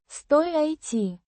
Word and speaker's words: стоит: Стоит. Means stands or is located. Pronounced стоит. with the stress on the first syllable.